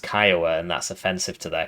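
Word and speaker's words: Kiowa: Got the Kioa uh with the um somebody sent me a message saying that you're disrespecting Native Americans when you call it the Kioa because it's pronounced Kyoa and that's offensive to their culture.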